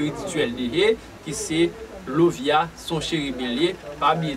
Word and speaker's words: Lauviah: pas là, chérubin que n'a pas là, c'est Lovia qui s'écrit A L A U V I A